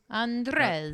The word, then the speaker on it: Andrzej: Andrzej.